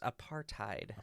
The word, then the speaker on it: apartheid: of apartheid. Oh pretty yeah, and much. I got fucking ratioed by some asshole. It's apartheid.